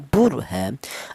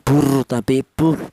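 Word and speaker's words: بُرْهَانَ: Cara bacanya di sini ee bur ha bu seperti itu. Bukan buruh ya. Jadi rnya ini dibaca tebal atau dibaca tafhim.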